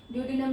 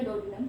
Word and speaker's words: ड्योडिनम: ठीक है, ड्योडिनम या डोडिनम, कोई भी प्रोनाउंसिएशन रख लो।